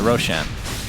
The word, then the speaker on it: Roshan: that roxan that's right Roshan is actually a word in farsy which is why I pronounce it Roshan and it means bright which is ironic Tower